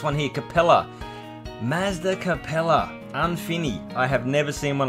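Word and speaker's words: ɛ̃fini: Next, now, the Infini. That's how they pronounce it. That's how Mazda pronounce it, the Infini.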